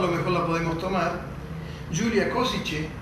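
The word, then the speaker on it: Gyula Kosice: mejor la podemos tomar, Julia Kosice, así se pronuncia, Julia Kosice, que tiene sus orígenes en Eslovaquia, en esa ciudad.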